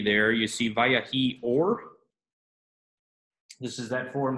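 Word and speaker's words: ויהי: wrote on the board, vayahi. This is a skinem levi. They've been nice enough to insert the metheg there right by the vav to remind you that this is its own syllable, va.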